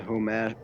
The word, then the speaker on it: homage: Like it's a homage. I can't say that word. Homage. Homemade? Or homage? That's French. I gotta pronounce it in the English way.